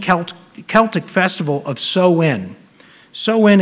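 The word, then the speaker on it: Samhain: Celtic Festival of sowin sowin is actually spelled Sam Hayne sa MH a i n but it's pronounced soen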